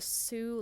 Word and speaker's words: Sioux: at a lullaby today called a sioux lullaby but it's spelled s-i-o-u-x now sioux is a